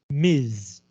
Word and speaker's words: Ms: The S is in Miss is unvocalized. 就不会用到声带. But the S in Ms is vocalized. It sounds like a Z.